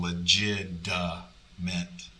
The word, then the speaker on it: legitimate: i would pronounce it i say legitimate but i'm saying a d sound i'm saying legit duh meant that's not how it's spelled at all so it